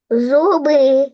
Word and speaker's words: зуби: склади так а тепер погукай слово зуби для того щоб визначити куди падає наголос на перший чи на другий склад зуби зуби на о зуби так на який склад падає наголос о на перший склад на у зуби так